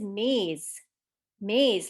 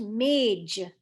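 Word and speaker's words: मेज़: actual correct pronunciation is maze maze like you walk through a maze or i did a maze today but a lot of times in conversational hindi hindi is pronounced mage for the same reason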